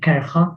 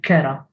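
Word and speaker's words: kerha: But then the female form kara. You don't say kercha, you don't say belcha, or kercha. You say kara.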